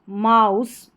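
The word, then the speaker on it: mouse: फिर आगे है म आउंड माउंट म आउंट माउंट म आउस माउस आउ नहीं है माउस है यहां पर जैसे कि पहले मैंने बताया कि कुछ स्पेलिंग्स में मैक्सिमम ज्यादातर स्पेलिंग्स में एस से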